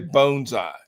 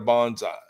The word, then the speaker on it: bonsai: Bonesai instead of bonsai. Bonsai is kind of slang. It's kind of lazy. I'm not Japanese either. When that word is read in English, it's bonsai. Bonesai is the correct Japanese pronunciation.